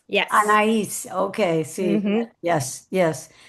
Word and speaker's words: Anaïs: How do I pronounce it? Anais? Anaïs, yes. Anais.